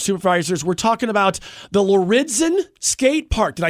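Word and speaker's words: Lauridsen: county board of supervisors we're talking about the loridzen skate park did i say it right that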